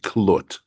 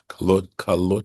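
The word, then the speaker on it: כלת: It was the day of Moses' completion, and that should be klot with a shava, right? The two dots, right, underneath the kaf. That's how it would normally be spelled, but it's spelled with a patach. That's this particular vowel here. That's how the tradition says we need to pronounce this word.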